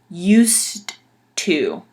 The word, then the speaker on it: used to: Now, in English, if you were going to pronounce it correctly, like very distinctly, very proper, it would be used to, because it's the verb or used in past tense, and we use a duh at the end.